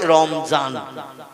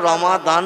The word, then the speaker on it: রমাদান: কারণ ওরা দোয়াত অক্ষরটা মানে জয় অক্ষরের মতো আওয়াজ করে বা এই জয় অক্ষরের মতো উচ্চারণ করে পড়ে। এই জন্য আমরা রমাদান বলি আরবি ভাষায়, ওরা বলে রমজান।